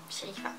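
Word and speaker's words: Cherifa: maman s'appelle shéifa alors ça s'écrit C H e r i f a et ça se prononce sherifa voilà waouh comment s'appelle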